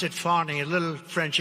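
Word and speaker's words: Fani: An Atlanta judge on Friday ruled that Fonnie Willis It's It's actually pronounced Fonnie. It's F A N I. But you pronounce it Fonnie.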